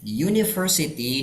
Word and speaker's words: university: Yang university dilihat cara bacanya U, bukan U. U berarti larinya ke konsonan. Makanya a university.